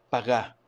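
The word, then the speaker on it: פגע: en el hebreo es pagá, así se llama, pagá. Quítale la R a pagar, ¿sí? Y ponle acento en la A y eso es lo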